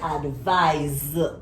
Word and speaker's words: advise: Advise is an S, but that S is pronounced like a Z or a Z, depending on your pronunciation. So advise, it's a verb.